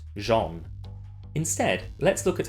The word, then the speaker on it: Zeon: I'll skip over the lowhanging fruit, like the corny acting, cheap costumes, and infuriating gameplay, and that Zeon is pronounced Jean.